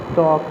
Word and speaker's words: talk: You have to pronunciate it where the silent things are given, like that, like we pronunciate talk, the L is silent, like that, walk, that is L is silent.